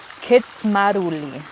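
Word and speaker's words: Kindzmarauli: It's just really different than what it's spelled like. So it is pronounced, let me look at my notes here, Kitsmaruli.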